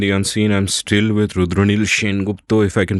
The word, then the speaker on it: Rudraneil Sengupta: I'm still with Rudraneil Sengupta, if I can pronounce it that way.